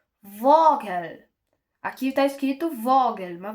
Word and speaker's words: Vogel: O V raras vezes pode ter som de F, como por exemplo vogel. Aqui tá escrito vogel, mas você pronuncia um pouquinho de foger.